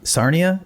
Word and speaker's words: Sarnia: Um, is it true that you left uh your town Sarnia? Is that how you pronounce that?